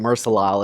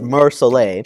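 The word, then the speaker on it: Mer Soleil: I butchered that pronunciation in that video. I was calling it Mersoleil. It's Mersoleil Chardonnay Reserve.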